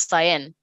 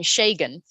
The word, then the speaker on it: Cyan: name is Cyan, and this lady kept pronouncing his name Shagan. And we always wondered, no, not at all. There's no G in the name. So we always wondered, where does the G come from?